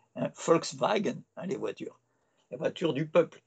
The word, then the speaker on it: Volkswagen: Web ich mein Lied, première personne du présent au singulier du verbe weben, d'où vient web, web avec W en anglais, mais en allemand ça se prononce V, hein, Volkswagen, hein, les voitures du peuple.